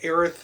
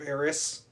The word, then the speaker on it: Aerith: pronunciations, which is why they also went with Aerith instead of Eris.